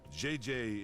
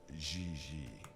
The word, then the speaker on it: Gigi: En français, you pronounce G like J and J like G. She may very well be JJ in America, but in France, she is Gigi.